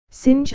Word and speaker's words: singe: in the same way he was taught to pronounce ape, singe and tree, arbre.